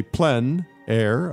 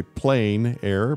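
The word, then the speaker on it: plein air: that essentially means outside the French say plen air others say plain air but it doesn't really matter how you say it it's a huge movement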